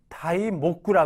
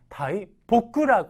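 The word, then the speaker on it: 大木: 모자이 모자이 모자라고 읽지만 아주 거목 큰 나무라고 할 때는 다이 모구라 읽으면 안 됩니다 다이 보구라 읽어 주셔야 되는 거죠 그래서 어 한자 하나에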